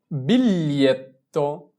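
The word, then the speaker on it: biglietto: আমরা যদি জি ধরে এর উচ্চারণটা করতে চাই তাহলে উচ্চারণটা মিলানো একটু কঠিন হবে, তাহলে আমরা জি কে এল এ ধরে উচ্চারণ করব।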